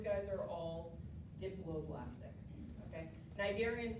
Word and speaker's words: cnidarian: Cnidarian starts with a C. The C is silent. Yeah, it's CNI, but it's pronounced cnidarian.